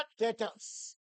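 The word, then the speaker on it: debtors: B silent होता है। बोलेंगे क्या? डेटर्स।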